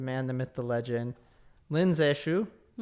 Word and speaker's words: Lin Zexu: So the man chosen to do it, the man, the myth, the legend, Lin Zexu. How would you pronounce it? Good job. Did I do a good job? Yeah. Okay. Lin Zexu.